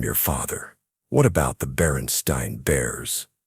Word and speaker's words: Berenstain: What about the Berenstain Bears? Spelled like Einstein. No, it's Berenstain. With an A.